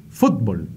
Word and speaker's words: fútbol: o vocal sin embargo si la tildamos en la u estaríamos pronunciando más o menos como hacen los argentinos fútbol Sí con acento en